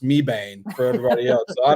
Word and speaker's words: Mebane: And it's Mebane, but it'll be pronounced Mebane for everybody else.